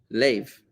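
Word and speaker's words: לב: Lev, lamed beis. Lev is a heart.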